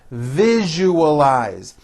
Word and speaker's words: visualize: i value our friendship visualize four syllables you all eyes visualize can you visualize what